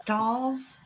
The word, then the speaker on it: Stahl: And if I can say, there's a book, it's called Stalls, which is spelled Stahals, Essential, Stahls.